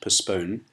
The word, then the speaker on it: postpone: postpone doing my homework note that the T is silent postpone and it means to